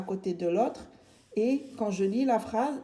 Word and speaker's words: est: Après, je viens et je regarde ce petit mot qui se lit et qui s'écrit E-S-T. Et j'écris ici E-S-T et je lis et. E-S-T se lit et.